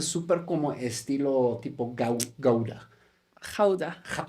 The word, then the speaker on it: Gouda: Jauda. ¿Cómo es? ¿Jauda? Jauda. Toda mi vida lo he pronunciado mal. Ah, sí. Todo el Sí, mundo aquí. Gouda. Guda, Guda.